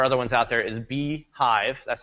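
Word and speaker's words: BeeJive: And the app that I, again, like, and there are other ones out there, is Beehive. That's how you pronounce that.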